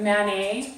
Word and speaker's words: Manet: And so they want you to point out the fact that Manet sounds like mayonnaise. So that they remember because a lot of them won't realize that that's how to pronounce it.